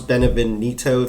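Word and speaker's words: Beneviento: and when not to um like the house benevonito that's how you pronounce it was like the whole time that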